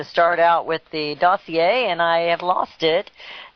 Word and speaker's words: dossier: the DNC paid for the, how do you pronounce it, dossier or dossier?